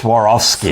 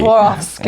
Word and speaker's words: Swarovski: It sounds like you're stumbling over it, but that's Swarovski. Swarovski.